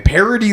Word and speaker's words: Paradis: ] Atlantic City man parody Louisiana isn't even near New Orleans it's like 20 minutes outside parody like paradise but like it's spelled French because